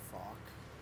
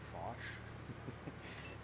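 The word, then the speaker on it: Foch: It's fuck in French, by the way, for all those people that always say fosh. You don't pronounce the H.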